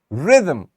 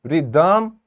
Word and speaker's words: rhythm: stress will be so we will say it is rhythm Rhythm not rhym redeem not like that so this is rhythm because we are focusing on this first part and this first syllable of the word same goes with vehicle